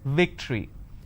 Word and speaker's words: victory: remember what i said if you have the letter v you need to bite your lower lip it's victory and if it's w